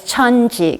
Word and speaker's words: 천지: In Korean, in Chinese character, it's pronounced as 천지.